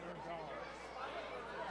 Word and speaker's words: Nergal: I think Nergal is pronounced Nergal. Babylonian god of death.